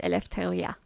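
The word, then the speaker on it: Ελευθερία: But just know that the Greek way is Eleftheria.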